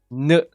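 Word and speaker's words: ん: Yes, you can see as a H, whatever you want, but the pronunciation is n. Right? You will not pronounce it as a H in Japanese. It's an n.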